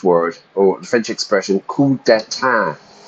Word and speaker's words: coup d'état: In English, we use the French word, or the French expression, coup d'état. Notice how I pronounce it. I don't pronounce the P or the S. I really just say a coup, a military coup.